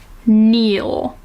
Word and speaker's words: Neil: found every syllable wanting Neel as in Neel as in get on your knees not as in Neil but as in Neil